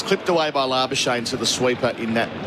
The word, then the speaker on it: Labuschagne: So please do Labuschagne. Yeah. His poor wife as well. I think it was difficult for her, obviously, not being of South African background. She told people to pronounce it like champagne.